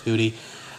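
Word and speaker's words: Hudy: pretty pretty solid um hoodie or hudie whatever you want to call it it's actually pronounced hoodie those are cream of the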